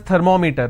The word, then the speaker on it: thermometer: this as technology meter we all pronounce this as thermometer thermometer it's not thermometer it's third ma meter right now meter is pronounced as meter it's thermometer it's not thermometer it's thermometer so i will pronounce or i will stress here because meter itself has two syllables